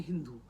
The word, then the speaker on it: Hindu: Nadi, was called a Hindu because the Persian could not pronounce sa. So, they pronounced it Hindu. Ha, so sa became ha. It became Hindu.